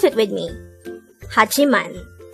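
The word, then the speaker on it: 하지만: second syllable into g third syllable is man pronounce it with me hachiman the word hajiman is also a conjunction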